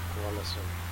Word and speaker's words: Ålesund: The destination airport for today, the A with an O over it is pronounced O, so the pronunciation for the destination is Ålesund.